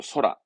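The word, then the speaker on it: 空: 공항의 공자니까 하늘을 의미해서 발음은 그렇죠. 소라.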